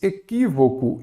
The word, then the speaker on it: equívoco: Equívoco. Eu já sei que a antepenúltima sílaba é a tônica, ela será acentuada.